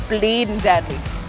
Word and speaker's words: bleedin' deadly: We would just take out the G and we pronounce it like it's bleeding deadly.